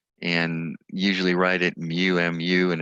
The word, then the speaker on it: mu: a greek letter and usually write it mu m u and it's pronounced like mu muw and this mean only can use for interval